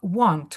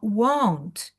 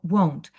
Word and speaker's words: won't: Воно не читається як want хотіти. Want I want, а won't. Та трошечки виділяючи о won't.